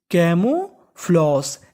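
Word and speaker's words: camouflage: यहां पे जी ई का उच्चारण होगा श। कभी कबभार जी ई का उच्चारण होता है श। तो ये हमारा स्पेशल रूल है। आप इसको याद रखिएगा। Camo floss.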